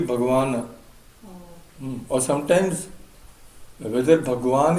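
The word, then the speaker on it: भगवान्: But Bhagwan has a na, has a halant? In Sanskrit, no. No. Sanskrit will be Bhagavan.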